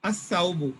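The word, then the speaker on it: الثوب: Sa, as-saubu. Sa is a huruf shamsiyya. As-saubu. We don't pronounce the lam.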